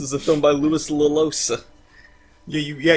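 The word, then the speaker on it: Llosa: Oh, this is a film by Louis Lalosa. Yeah, you actually do pronounce both L's.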